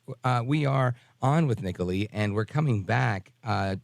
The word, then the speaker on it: Nicolee: of your first name It Is Nicoli just think Nicole to Italy that is so cool Nicoli with an extra E I love it all right folks uh we are on with Nicoli and we're coming back